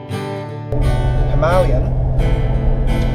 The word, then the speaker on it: Himalayan: himalayan that is how it's pronounced uh so we're off